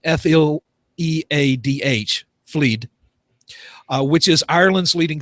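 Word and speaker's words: Fleadh: states of the galway film i guess i'm pronouncing that right f-l-e-a-d-h fleed uh which is ireland's leading film festival was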